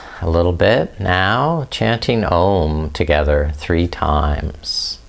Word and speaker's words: Om: Chanting Om together three times. Om as three syllables. A u m and the fourth is silent so that we can listen within. So listen to your voice.